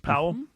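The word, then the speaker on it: Pawol: Her name's not spelled like Powell, but that's how it's pronounced, Powell.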